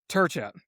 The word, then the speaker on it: Trca: his name is Rob, and the way you pronounce this last name is Turca, Trca.